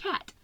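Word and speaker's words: quatre: French un cat cu the number four in French is pronounced cat so I thought that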